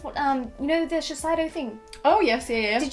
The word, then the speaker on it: Shiseido: There's a Shiseido, is that how you say it? Yep. Yeah, Shiseido mask, and it is hydrating, really hydrating, and